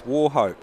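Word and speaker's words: Wauchope: It's Warhope, New South Wales. Warhope. Okay, cool. That's how it's pronounced.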